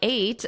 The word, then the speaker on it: ate: This 8, yesterday I ate, that is the same as the number 8.